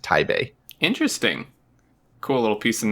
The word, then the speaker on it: Taipei: to say that it's it's technically pronounced Thai Bay Thai Bay uh-huh the people I lived in Taiwan for a couple of years when I was younger so I used to I knew used to know Chinese but it's been so long since I've actually spoken it but yeah the actual name is pronounced tae bay interesting cool little piece